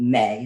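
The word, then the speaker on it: Mae: There's a band that we both really loved called May. It's spelled M-A-E.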